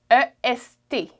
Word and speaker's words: est: So east in French is est, E-S-T, est.